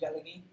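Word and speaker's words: Tsalagi: It's Cherokee. It's just how you say it in Cherokee, Jalagee.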